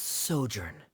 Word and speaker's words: sojourn: clear uh uh directors osimos how do you pronounce this word let me see Ah that's sojourn it means to stay for a while this